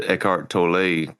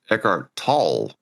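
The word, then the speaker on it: Eckhart Tolle: Uh, but he was born German, so his his name is actually pronounced Echart Tall. Um, so apparently you put an A instead of an O.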